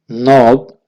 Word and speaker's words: know: दक्कुन, दक्कुन, नोक, दस्तक देना। दक्कुन, नोक, दस्तक देना। मारिफतुन, मारिफतुन, नो, जानना। KNOW, इसमें के साइलेंट है, लिखा जाएगा लेकिन पढ़ा नहीं जाएगा।